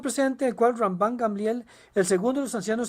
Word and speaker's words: Gamliel: el cual Ramban Gamliel, usted probablemente pensaba que se pronunciaba Gamaliel, pero la pronunciación correcta en hebreo es Gamliel.